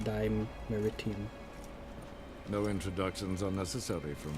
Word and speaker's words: Dimeritium: It's pronounced Dimeritium.